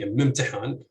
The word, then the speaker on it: imtihan: So in 15, you would say imtihan with stress on the second heavy syllable.